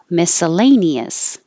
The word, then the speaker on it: miscellaneous: a bottle of water miscellaneous miscellaneous and the stressed vowel is a exaggerate egg kind of like egg but you don't